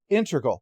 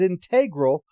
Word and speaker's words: integral: it is is that they pronounced it integral which again is perfectly fine but every time they did that they flicked the back of my brain because I'm used to pronouncing it as integral unless you're talking again about calculus and that's a very